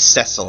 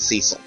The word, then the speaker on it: Cecil: game that taught me the pronunciation of his name was cesil and not Cecil who knew but hey the official audio says Cil so we're going to go with Cil then again I can't